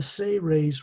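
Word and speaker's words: Seras: He's of the Say-Rays race, S-E-R-A-S, pronounced as if it's spelled S-A-Y-R-A-Y-S.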